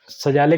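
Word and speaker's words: Szalay: ठीक है, ये स्पेलिंग पर मत जाइएगा, स्पेलिंग पर मत जाइएगा, ठीक है, नाम में आप ध्यान रखिए, ये पूछा जा सकता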